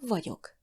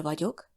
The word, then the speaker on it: vagyok: You say a D sound with the middle of your tongue, then you say a Y sound.